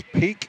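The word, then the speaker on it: Peaq: them online as well it's peak which is spelled p e a q q very very hip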